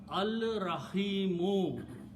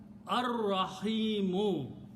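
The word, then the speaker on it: الرَّحِيمُ: so it will become al-rahimu. And when you pronounce, you don't pronounce lam, ar-rahimu.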